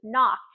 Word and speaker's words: knock: We talked about the phonics rule of the silent W with wrist, of the silent K with knock.